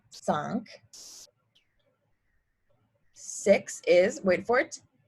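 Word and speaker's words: cinq: will just say cuts five is sunk so it kind of sounds like if you're saying sink in like a funny accent so sunk six is wait for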